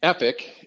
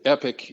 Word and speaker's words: EPIC: social well-being so the Epic and epic is how we pronounce the acronym EP bhc embedded prevention